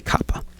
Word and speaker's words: COPPA: And I pronounce it COPPA because it's the Children's Online Privacy Protection Act. It's not the Children's Own Line. It's not the Children's Own Line, it's Children's Online. So I say COPPA.